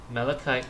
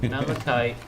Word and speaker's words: malachite: Malachite tactile. It's malachite.